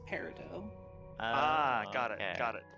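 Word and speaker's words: Peridot: Um, well, Steven Universe says it paradot, but I I say it parido. That's a cucumber quest. The witch named Parido goes so far as to correct the dark lord on the pronunciation of her name.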